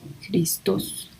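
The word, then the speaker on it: Χριστός: Christos o Christos, parece que tiene acento en la O, Christos.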